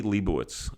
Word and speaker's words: Lebowicz: And his name is Lebowicz. welcome to the Jewish Link. Thank you. Shkoyach on the pronunciation.